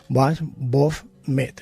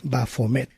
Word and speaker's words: Baphomet: Se escribe como bois, fos, metis en este caso, y que leído en francés más o menos sería como Baphomet, es decir, Baphomet. Y esto significa vida, luz y sabiduría.